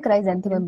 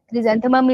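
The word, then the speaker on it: chrysanthemum: हाँ, क्रिजेंथेमम भी कहते हैं, क्राइजेंथेमम भी कहते हैं। क्रिजेंथेमम इज राइट प्रोनाउंसिएशन में से।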